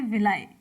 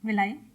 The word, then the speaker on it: villi: Option यहाँ पर हमारा सी सही हो जाता है, विलाई। इंग्लिश में आप इस तरीके से लिखेंगे VILLI, प्रोनाउंसिएट आप विलाई करें या विली करें, चाहे जो भी, विलाई करेक्ट प्रोनाउंसिएशन है।